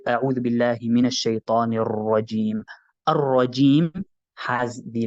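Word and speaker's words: الرجيم: So we would say Ar-Rajim. Ar-Rajim. I'm not sure if you've heard that properly, but we would say Ar-Rajim. There's a slight repetition on the, so that's the question from Ishraf.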